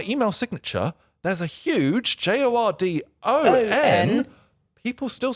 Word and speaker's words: Jordon: So my name is Jordan with an O. Usually it's spelled with an A.